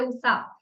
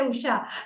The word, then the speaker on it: Usha: I have seen even my name they say USA they don't say Usha they say USA I